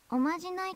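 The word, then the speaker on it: お呪い: でいいのですおまじないとは人が人を思う気持ちから呪いて書いてマジないって読むんだよねここ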